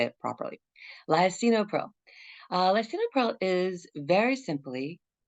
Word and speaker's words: lisinopril: in there lycinopril excuse me I've put the pronunciation so that we actually say it properly lyacinopril uh lisinopril is very simply it's to treat high blood